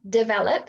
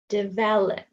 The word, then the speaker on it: develop: stressed syllable sorry so we have develop three syllables develop the V is straight stred okay so that means if it's the stressed one it won't be awah sound so the other one develop develop so can you if we were reading it how it's spelled it would be develop but it's not because it's a schw sound develop can you hear the in there so it's not the stress syllable it's the other one